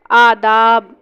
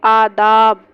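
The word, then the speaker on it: آداب: बाद है डाल दम आदाब ये अलिफ मतदा है इसलिए थोड़ा khinchenge आदाब उसके बाद है राज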